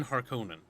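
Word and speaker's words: Harkonnen: GGO in Dune forever it has always been har Conan there's no consensus in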